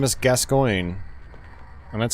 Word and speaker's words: Gascoigne: There's a famous footballer whose last name is Gascoigne. And that's how you pronounce it.